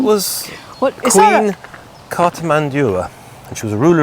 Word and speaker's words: Cartimandua: Right, Cartimandua and the Brigantes. You've butchered that name. Cartimandua.